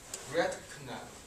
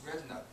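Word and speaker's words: Redknapp: he's called Harry rut the K is silent uh sometimes people especially Chinese they say his name is red canut that's wrong it's red nut uh actually uh there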